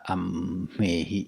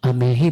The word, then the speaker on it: ammehi: Huruf M dalam kata ammehi itu seolah-olah dibaca dua kali. Hmm. Yang dibaca yang pertama itu menjadi konsonan akhir dalam suku kata awalnya dan juga sebagai konsonan awal dalam suku kata berikutnya.